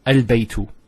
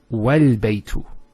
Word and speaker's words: البيت: that with hamzat al-wasl, if it starts off a sentence, it's pronounced. So, al-baytu. But if there's something before it, let's say a waw, what happens? It's wal-baytu. So this is not pronounced because it's in the middle of a sentence.